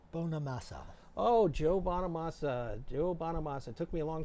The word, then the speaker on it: Bonamassa: Joe Bonamassa. It took me a long time to pronounce his last name correctly.